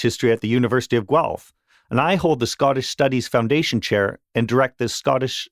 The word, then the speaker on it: Guelph: So I work for University of Guelph, that's how it's pronounced.